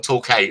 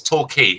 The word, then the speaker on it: Torquay: where she is torquay it looks like torquay like it's torquey that's how you pronounce it it is lovely